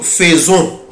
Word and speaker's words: faisons: ما بقولش نو faisons غلط، ما بقولهاش في، بقولها فو. faisons. nous faisons. طب هي فين يا مستر الاو؟ قال لي الاي يبقى انطقها او، يبقى nous faisons, vous faites, ils font, elles font.